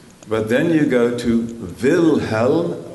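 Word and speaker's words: Wilhelm: then you go to Vilhelm vice vilhelm which is German for William WIIL htlm vilho noirish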